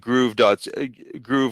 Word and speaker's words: Gruv: an Amazon reseller yeah, it's because I believe Groove, which is spelled GRUV.ca, that's the official reseller for Shout Factory.